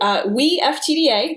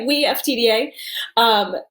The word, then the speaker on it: WeFTDA: So WeFTDA, that's how we pronounce it. We Collective, right? WeFTDA.